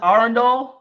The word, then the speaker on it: Arundel: It's pronounced Arundel.